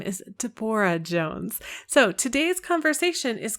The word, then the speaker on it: Debora: Her name is Debora, not Deborah.